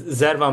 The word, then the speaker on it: Zervan: We are here with Taylor and Zervin. I hope I'm saying that right. I've been saying it. I see it written, but I just want to make sure I'm pronouncing that correctly. Yeah, it's Zavon, but it's it's good.